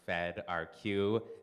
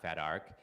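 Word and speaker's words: fedrq: so feder Q uh which is my tool pronounced fed RQ not fedar is a repository quering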